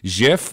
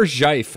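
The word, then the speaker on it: GIF: Also, I say Jif or Jife, as Mike Rignetta says. So, you know, get that out of the way, too. Oh, the G is silent. It's if. It's if.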